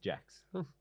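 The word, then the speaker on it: Jaques: It was one that said pronounced Jacks.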